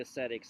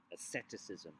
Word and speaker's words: ascetic: I'm going to be using this term ascetic, so there it is spelled for you. Asceticism. All right, don't get it confused with aesthetics with a th, which means art and stuff like that.